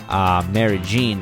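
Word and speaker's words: Medellín: amazing journey to Colombia, Medellin. Medellin is how they say it.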